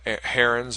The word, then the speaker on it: Heron: special type of triangle, we have Heron's or Aaron's, depending on how you want to pronounce it, formula for a side-side-side triangles.